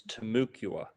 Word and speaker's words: Temecula: I would like to know about the Temecula Indians, if you know, or how do you say it? Am I saying it right? totally. Yeah, people tell me I say it wrong, but it's Temukua.